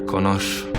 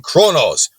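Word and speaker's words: Qo'noS: She told me the story how Kaish united the houses and conquered Konosh. You're saying it wrong. You're saying it wrong. It's Ka and Kronos.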